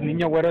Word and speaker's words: Niño Güero: Entonces, Niño Güero es algo como que se pronuncia con la ñ, con el diéresis, sí, y sí, todo, como muy...